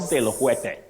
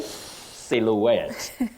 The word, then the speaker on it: silhouette: popular on this show yes not Sil no you say silhouette then we have Paris